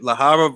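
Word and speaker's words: Lejarraga: Lahara versus the winner of Horn versus Zoo. Is that how you pronounce that? In Spanish, yeah. That's how you say it in Spanish, because he's from Spain.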